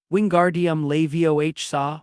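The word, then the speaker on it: Wingardium Leviosa: Wingardium levioh saw with the gar being long and pronounced.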